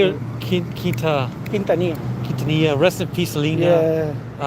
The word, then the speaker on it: Quintanilla: Quintanilla.